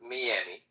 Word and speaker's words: Miami: I'm gonna be in, and by the way, it's pronounced Miami. I'm gonna be in Miami in the next. Today is my birthday. I'll be there. Oh yeah. If you're Latino, If you're Latino, you call it Miami.